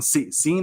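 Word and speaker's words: Seine: this takes place on scene I think is how you I think it's pronounced the San River insane s yeah yeah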